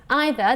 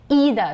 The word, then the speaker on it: either: yes i hear two i hear two versions one is either the other is either so which is which actually either is british english and either is american version it's the american version and also this word